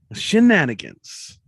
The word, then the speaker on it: shenanigans: One word, 4 syllables, shenanigans.